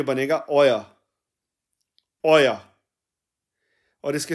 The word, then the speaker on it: euer: Informal में हम your ऑल्स को यानी तुम सबका जब हम ट्रांसलेशन करेंगे जर्मन में तो ये बनेगा ओया, और इसके स्पेलिंग बन जाएंगे इंग्लिश में EUER, और जर्मन में इसके स्पेलिंग बनेंगे AUAR, ओया, तुम सबका.